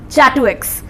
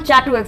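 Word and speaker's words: châteaux: also attacked on the Châteauix. See, this is Châteauix, attack on Châteauix. This is a French word that is not pronounced as Château but Châteauix.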